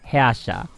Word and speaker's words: Herrscher: I use for the Herrscher of the Void. So it's kind of, I'm just reading it literally in English, but it's actually Herrscher.